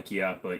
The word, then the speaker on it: Chiappa: It's pronounced with the CH, not a K on the Chiappa.